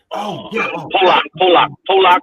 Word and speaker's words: Pollock: I think it's called Pollock, right?